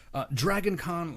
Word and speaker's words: DragonCannes: DragonCannes, like pronounced like con, like con, the Cannes Film Festival. Stupidly smashing con, that kind of con, not like con as in Con Air or there.